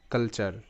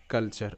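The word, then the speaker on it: culture: আমরা পাবো সেটা হবে কালচার কালচার ওকে সো এখানেও কিন্তু সি এর উচ্চারণটা ক হচ্ছে আর ইউ এর শর্ট সাউন্ড আ হচ্ছে কারণ ইউ এর পর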